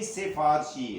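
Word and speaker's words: سِفارشی: دکھا دیا ہے کہ وہ بھی سفارشی نہیں سفارشی ہے. سین کے نیچے زیر پڑا کریں، لکھا کریں اور بولا کریں، صحیح تلفظ اس کا یہ ہے.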